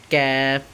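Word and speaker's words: ك: বাড়াইয়া তার বরাবর উপরে তালুর সঙ্গে লাগাইয়া তাহলে উচ্চারণটা কি হলো ক্যাফ ক্যাফ একটু শক্ত করে হবে ঠিক আছে ক্যাফ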